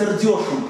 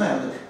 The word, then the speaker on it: Эрдёш: То есть ударение на «э» в большей степени, но здесь все-таки «ё» в каком-то смысле. Ну, «Эрдёш», «Эрдёш».